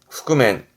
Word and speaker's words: 覆面: 발음은 흑그맨. 후그맨 이게 얼굴에다가 뭘 뒤집어 쓰는 그 복면이 후구맨 후그맨이 한자입니다.